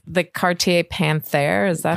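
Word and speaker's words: Panthère: have watchh yeah this was it's the Cartier Panther is that how you pronoun it that's how it's pronounced yeah it's was for my 40th birthday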